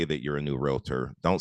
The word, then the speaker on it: realtor: estate agents to know the right pronunciation is realtor so that's that's you you'll